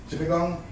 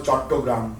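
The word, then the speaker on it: চট্টগ্রাম: Chittagong. I am from Bengal, you know, I grew up there first 20 years, so the Bengali pronunciation was Chattogram, but the British came and they changed everything, you know.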